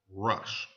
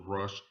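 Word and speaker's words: ראש: Hebrew word here it's it's translated from you pronounce this Hebrew world rush now not only is this Hebrew word pronounced to rush but this very first letter in this Hebrew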